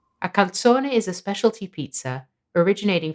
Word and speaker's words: calzone: the z is pronounced second the word final e is always pronounced have a listen to the correct pronunciation calzone i'm preparing the classic